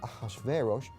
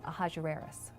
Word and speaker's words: Ahasuerus: Now that was hard for the Jews to pronounce, so they said Ahasuerus.